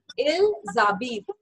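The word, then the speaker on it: ils habitent: And next one will be il zabit. जो last का ENT है, ENT, I'm not going to pronounce it. So I'm saying no to ENT. So I'll be saying il zabit.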